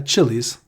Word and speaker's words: Chiliz: So here, founded in 2018, Chiliz. I think this is how you say it. CHILIZ. CHILIZ. Yeah. Yeah, Chili's.